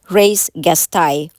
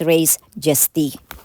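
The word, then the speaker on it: res gestae: under section 42 part of race gestai or another pronunciation is raise gesti.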